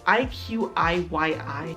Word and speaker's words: iQIYI: do you pronounce it i say icky because it just makes me mad it's iqiyi a chinese version of